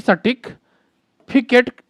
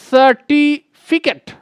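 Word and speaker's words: certificate: हो जाता है कि सटिक फिकेट क्या होता है. सटिक फिकेट, सटिक फिटिक, सटिक फिटिक. बताइए, बच्चे 10th पास करने के बाद भी तो रियल प्रोनाउंसिएशन होता है, इसे हम लोग बोलेंगे सर्टिफिकेट। सर्टिफिकेट।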